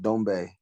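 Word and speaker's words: Doumbé: a paris france fight cedric dombay um and he's a uh dominant that's that's correct pronunciation yep he's uh he's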